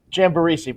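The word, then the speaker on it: Jambaresi: Jan Baresi, but you were close.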